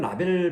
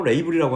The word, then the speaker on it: label: 가격에 의해 라벨이란 단어, 영어는 라벨 발음이 없죠. 레이블이라고 합니다.